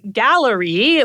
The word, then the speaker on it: Galleri: And the test is called Gallery. like a gallery of cancers, I suppose.